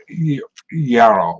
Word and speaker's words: gyro: He made me practice saying gyro with roll your R's.